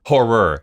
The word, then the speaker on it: horror: when we watch horror horror you have to make sure you say the two syllables there else it sounds like a different word oh horror what did